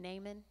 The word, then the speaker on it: Naaman: Do y'all know the story of this guy named Naaman? Naaman, Naaman, it depends on how you want to say his name.